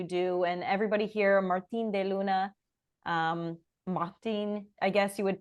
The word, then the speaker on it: de Luna: Martine de Luna, Martine, I guess you would pronounce it in Martine French.